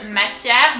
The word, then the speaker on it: matière: So ma, let's break it down. Ma, very simple. T-I-E, tière. So here you can see the E has an accent. It's the opposite side of the accent that we've seen before. This one is called accent grave and it's pronounced E, matière. R comes from deep down.